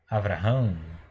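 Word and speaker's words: אברהם: Então, pronunciando bem devagar, Vrá, V-R-A, Vrá, H com A, H-A-M, Ram. Então você tem aqui Avraham, tá?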